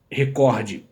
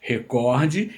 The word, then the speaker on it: recorde: E a palavra recorde é uma palavra paroxítona. Então, se houvesse um acento, não é se tivesse, se houvesse aqui um acento, existisse na palavra recorde, ela seria então na sílaba do meio, recorde, mas não tem. Se tivesse, seria recorde. Então, sempre que ouvimos alguém falar em recorde, está errado. Não importa quem falou, está errado.